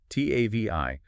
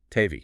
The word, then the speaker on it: TAVI: You see the letters TAVI for trans catheter aortic valve implantation. But in practice, everyone in the field pronounces it as one word. Tavi. Ah, okay. Not TAVI, but Tavi.